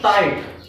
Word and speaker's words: tight: t g h t g will be silent and the pronunciation of the word will be tight in this way when